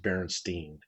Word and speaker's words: Berenstain: Um, Yeah, it's TAIN. yeah, Yeah. yeah. But they actually pronounce it Berenstein.